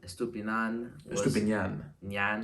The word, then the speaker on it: Estupiñán: Estupiñán, for the FIFA lads out there, Estupiñán.